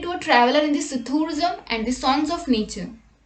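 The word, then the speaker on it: psithurism: In this word, P is silent, so the word is pronounced as sithurism.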